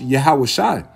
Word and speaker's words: Yahawashi: And in the proper Hebrew, the pure Hebrew, is pronounced Yahawashi.